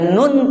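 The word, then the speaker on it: نون: masih ng ketika kita bukan Nuh bukan nung ya bukan Nung tapi Nun di antara idhar dan idgham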